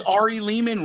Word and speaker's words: Ari Lehman: Yes, it's me Ari Leman rhymes with demon.